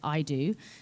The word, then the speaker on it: EIDU: And one that is top of mind, because there was a Forbes article about it yesterday, is an organization called IDO. It's spelled EIDU.